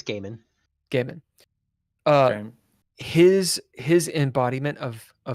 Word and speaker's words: Gaiman: Or Neil Gaiman, however you pronounce it. It's Gaiman.